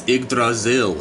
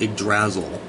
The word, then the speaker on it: Yggdrasil: of life and it's big Brazil a big Brazil nut Yggdrasil idiot pronounce it properly before you actually try